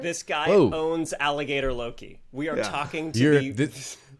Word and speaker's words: Loki: Am I talking loco? No, it's going to be the confusing. Show's pronounced Loki.